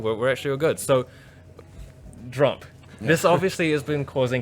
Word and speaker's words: Jrump: We have the guys from Jrump. How do you pronounce that, by Just the way? Jrump. Jrump. Yeah, the Just same Trump. way you say Trump, Yeah. but with a J.